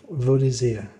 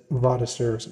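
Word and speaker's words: Vaudésir: Vaux d'Isère. Man, I would have totally butchered that name. I would have said Vaux d'Isère.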